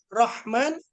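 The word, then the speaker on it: رحمن: Rahman, Rahim itu ha kecil.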